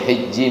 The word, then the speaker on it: haji: Kalau bahasanya boleh haji, boleh hiji bacanya, boleh aja.